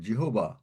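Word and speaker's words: Jehovah: জিহবা ইজ মারসিফুল ঠিকমতন বল এটা কিন্তু অন্যভাবে তুমি কথাটা বললে এগুলো মানে ঈশ্বর সম্বন্ধে কথা বলছো কোন উচ্চারণে যেন অন্যরকম না হয় দা great god Lord জিহোবা is merciful.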